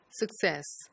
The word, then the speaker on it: success: instead of success so in success the stress is on the second syllable whereas the outer circle